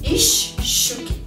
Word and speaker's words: из щуки: стыке предлога и слова Например из щуки из щуки но произносим ищ щуки то есть длинная ща получается или без четверти пишем